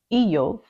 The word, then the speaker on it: Iyov: of job which in the Hebrew language is pronounced uh e e okay so in Hebrew eov is job and some people say job because